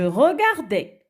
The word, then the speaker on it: regardais: Et, bon, faites attention, le S ne se prononce pas. D'accord? Muet. Alors, je regardais.